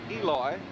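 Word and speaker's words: Elois: Grooms pronounces his first name Eloy, and he is out of the ball game.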